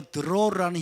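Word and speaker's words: דרור: 포로된 자에게 자유를, 이 자유가 바로 드로르라는 히브리어입니다. 드로르. 따라서 드로르를 발음해 보시면 혀가 자유롭게 굴러가시죠?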